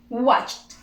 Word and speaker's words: watched: Watched, watch, watch, watch. Okay, simple past. We add the ed, we do not pronounce the e, we pronounce only t.